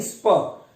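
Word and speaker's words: spur: और फिर एक आखिरी ऑप्शन है स्पर। ये आर वाला साउंड प्रोनाउंस नहीं करोगे, स्पर बोलोगे।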